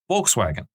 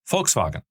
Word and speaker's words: Volkswagen: And I want to start today's episode by talking about Volkswagen or in the German pronunciation Volkswagen.